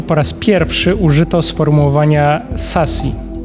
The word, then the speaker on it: SASE: dobrze mówić i tak mówi księż księżniczka Sis Sasi. Jak to się wymawia?